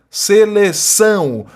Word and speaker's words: seleção: A está sendo nasalizada, em vez de você pronunciar A, você pronuncia AN, seleção, dedicação, né? E são duas palavras oxítonas, porque a sílaba tônica é a última, né?